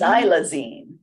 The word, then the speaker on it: xylazine: that drug uh Larissa asks what about xylaz xylazine thank you what about xylazine oh God I